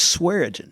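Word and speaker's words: Swearengin: outside of grant uh swearagen you have to be from from north alabama to really know how to say it but it's swearing yeah so uh yeah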